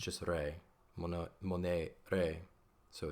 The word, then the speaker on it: monere: Monere, you have a long, now be mindful of my pronunciation here. A, that is in English E, right?